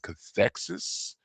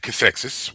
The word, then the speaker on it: Cathexis: the Voyager episode, and I believe it's pronounced Cathexis. Oh, I I have, like the way I said it. I was proud of myself just now. I was like, well, Cathesis, sorry to burst your bubble.